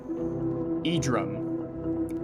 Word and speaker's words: Edrum: Edrum, pronunciation e-drum, meaning lighter night, equivalent to a day in suburbia.